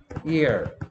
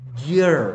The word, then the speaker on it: year: 그리고 ear라고 발음하지 않고 잘 들어보면 year 이렇게 발음합니다.